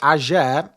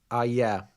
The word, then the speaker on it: Ayer: Is it Ajer or Ayer? Because I feel like if you watch my videos back, every time I say his name, I say it differently. And I don't know if any of them are right. Ayer. It's with a... Well, Ayer. Okay, it's not a J.